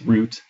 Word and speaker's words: route: uh on on this route as the British English or rout as the Americans say um kind of leaving